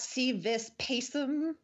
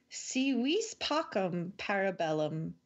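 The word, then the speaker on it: Si vis pacem, para bellum: to pronounce that correctly so it's not see this pacem yeah that's what I said at the end of the last one that's wrong see we Spock impera bellum or if you want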